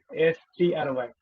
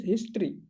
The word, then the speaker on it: history: That is, you pronounce that word as history.